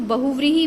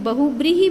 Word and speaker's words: बहुव्रीहि: Number 6 बहुव्रीहि समास, इसको बहुव्रीहि भी बोला जाता है एंड बहुब्रीहि भी बोला जाता है, तो दोनों ही ठीक है, राइट।